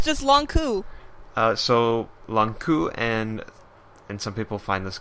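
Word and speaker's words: Lon'qu: It's just Longku. Longku. I'll just replace it with a K. No pause. It's just like long coup.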